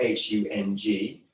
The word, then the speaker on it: Hung: You'll sometimes see it spelled H-U-N-G, which is about as close as you can get if you don't understand the International Alphabet of Sanskrit transliteration to correct pronunciation.